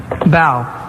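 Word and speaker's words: bough: First of all, a word ending in O-U-G-H that rhymes with now. Bow.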